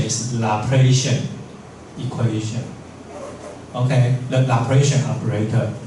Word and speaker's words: Laplacian: The pronunciation is Laplacian equation.